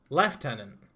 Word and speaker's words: lieutenant: lieutenant that's just wrong leftenant is wait he's left tenant for lieutenant hook I was in the Royal Navy leftenant is the British Way so leftenant and Lieutenant